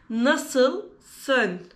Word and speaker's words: nasılsın: In Turkish, we pronounce nasılsın.